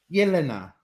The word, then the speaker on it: Jelena: Now, is it Jelena? Is that right? It's pronounced Jelena. Yelena. Yeah, Yelena?